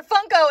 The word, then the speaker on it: Funko: these Funko Pop things Funko Funko no they're Funko it's Funko I always say it wrong I